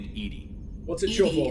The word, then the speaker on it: EDI: named Edie? What's it short ED for? is the phonetic pronunciation of EDI.